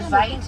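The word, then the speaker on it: wit: Now white rhinos get their name from the Afrikaans word vite. Now vite is spelled W-I-T and it means Y, not white.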